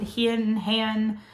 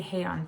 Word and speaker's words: Heian: Heian, I hear it pronounced different ways. So I'm going to say Heian period, okay?